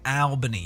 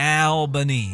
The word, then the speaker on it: Albany: It's Albany. Yeah, Albany. Yeah, that's how you pronounce it, right.